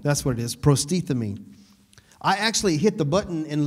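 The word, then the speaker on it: προστίθημι: Prostethemi, that's what it is, prostethemi.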